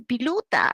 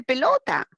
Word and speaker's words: pelota: niño es quechua hablante, en lugar de decir pelota, dice piluta. Y sus compañeros le hacen bullying, dice, oye, habla bien, no se dice piluta, se dice pelota.